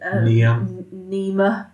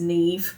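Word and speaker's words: Niamh: You said Nema, yeah, and it was Neve. Yeah. I was like, I mean, that's how it's spelled.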